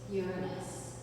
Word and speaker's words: Uranus: So the first one we'll get to is Uranus and that is how you pronounce it.